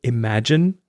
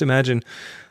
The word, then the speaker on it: Imagen: I think you pronounce it Imagine. Of course, it's image and imagine combined.